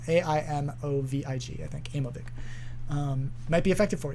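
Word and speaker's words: Aimovig: can just ask like have you heard of amovig and it's spelled the way it sounds which is hard to spell a-i-m-o-v-i-g i think amoebic um might be effective for you uh okay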